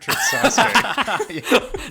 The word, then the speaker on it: Sasuke: you're lucky Kobe butchered Sasuke.